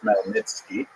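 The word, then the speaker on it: Khmelnytsky: It's actually pronounced Malnitzki with a gut at the beginning.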